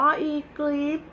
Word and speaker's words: Eglips: นั่น เอง นะ คะ เขา เขียน นะ คะ ว่า อ่าน ว่า อีก รีฟ นะ ที่ ทัก ซื้อ